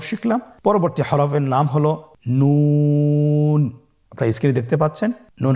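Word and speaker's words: نون: আপনারা জিহ্বার আগাটা তার বরাবর উপরে তালুর সঙ্গে লাগিয়ে উচ্চারণ করুন এবং আমার সাথে বলুন নুন। আবার বলুন নুন।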